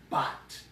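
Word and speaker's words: בת: But this is the word in Hebrew for daughter, and we would pronounce it as bat. Bat. The bait and the tav.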